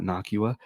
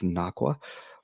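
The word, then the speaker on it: Nocqua: It's not Nakua, it's Nakwa, like aqua.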